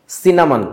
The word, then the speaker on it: cinnamon: বলেন তো এটার উচ্চারণ কি? Cinnamon. সিনামন।